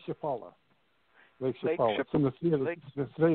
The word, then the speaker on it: Chapala: think it was said lake chapath is that right how do you say that lake chapala ships on the field